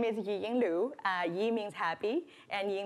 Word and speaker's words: Yiying Lu: happy creative land and if you want to pronounce my name right you have to smile because it's GA so I was born